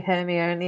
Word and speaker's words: Hermione: is that that's why she invented that crumb character so that hermione could teach him how to say hermione so that she could tell her audience no this is how you say the name she'll always be hear